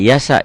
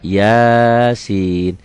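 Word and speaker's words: يس: Jadi kalau menemukan penampilan seperti ini jangan dibaca digabung. Bacanya dieja seperti BRI, BCA, BNI kayak gitu ya. RRI enggak RIRI enggak gitu. RRI. Ini enggak Yasa, Yasin.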